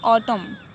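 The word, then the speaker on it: autumn: अब नेक्स्ट देखें, जब भी किसी वर्ड के अंत में एन से पहले एम आता है तो एन साइलेंट होता है। देखिए एन से पहले एम अगर आता है तो एन जो है साइलेंट होता है। देखिए क्या है, ऑटम, कॉलम, तो यहाँ पे एम से पहले हाँ, एन से पहले जो है यहाँ पे क्या आया हुआ है, एम आया हुआ है,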